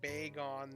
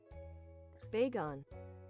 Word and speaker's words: Bagon: Oh, I've been pronouncing Baggin Bag on this. I mean, that may be right. I don't know how it's supposed to be pronounced. Let's see. I might be pronouncing... Wait. Bagon. Bagon is how they say it's pronounced, technically. I'm pronouncing it wrong. Bagon. According to Google.